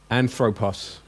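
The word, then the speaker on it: ἄνθρωπος: How do you pronounce this word? Anthropos.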